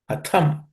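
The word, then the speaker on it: कथं: Atham. The tha is the second letter in the tha vargo, third class of consonant, so it has to be aspirated.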